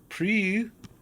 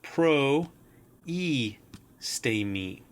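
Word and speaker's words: προΐστημι: So rather than pronouncing this pre, this is in fact pro e stay me. So that the diaeresis helps one to understand that the iota is to be pronounced distinctly and not forming a monophthong.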